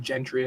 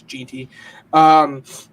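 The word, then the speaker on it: Jeanty: I pronounced it wrong. I said Gentry. I think it's Ginty.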